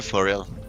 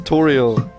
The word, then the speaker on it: Toriel: Thank you, Foriel. I hope we'll meet again. What is it with every fucking of Chris's character mispronouncing my name? For real. Yeah, Thoriel. It's Toriel.